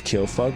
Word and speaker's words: Kyofug: My name's Kyofug, which is spelled like this, K-Y-O.